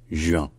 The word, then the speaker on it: juin: un c'est un UE un peu comme un U comme si vous disiez j 1 il avec avec le U qui est prononcé très vite juin après on a aussi